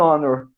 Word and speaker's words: honor: Porque nessa palavra, o H ele é mudo.